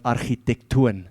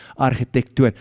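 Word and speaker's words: ἀρχιτέκτων: The Greek word for master builder is the word architectoon. That's how you pronounce it, architectoon. And that's where we find our word, English word, architect.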